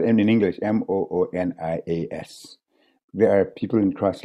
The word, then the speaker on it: Moonias: Munias, we call them. Anyway, and even that I spell Moony, which is Mooney, and ass, A-S-S. Normally it's spelled in English, Moonias.